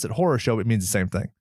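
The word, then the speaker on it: хорошо: r OS o pronounced source oh yeah they pronounce it horosho it means the same thing so that was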